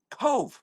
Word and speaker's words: Cobh: And then the other was the Cove. I don't know if you know the town of Cove. It's spelled actually Cobh.